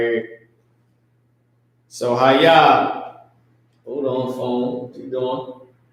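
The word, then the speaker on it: היה: So ha, ya, ha is how it's spelled, but it's pronounced ha, ya.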